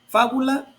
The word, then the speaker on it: fábula: ejemplo que es fábula fábula tiene acento en la última penúltima antepenúltima sílaba Y en este caso es esdrújula lo mismo pasa con